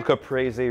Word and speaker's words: caprese: Yeah, they're little caprese wreaths.